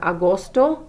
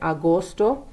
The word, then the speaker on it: agosto: And then we have Agosto. Those are long O sounds.